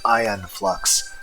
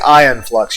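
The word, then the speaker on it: Aeon Flux: actually spell it because the pronunciation of it does not because if I'm going to say ion flux you're going to think IO in no that's not how it's spelled a e o n and then the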